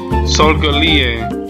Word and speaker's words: Solgaleo: Oh my god, how do I pronounce this Pokemon? Solgaleo.